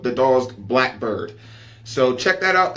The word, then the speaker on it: Drozd: The upgraded, hooked up version of this is called the Drozd Blackbird.